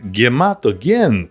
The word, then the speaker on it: Hematogen: Hematogen, also spelled and pronounced gematogen, is a Russian delicacy from a pharmacy.